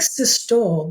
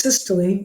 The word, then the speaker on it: systole: these terms systole and diastole this looks like systole doesn't it yeah it's pronounced systole I'm guessing it's because it's got a Greek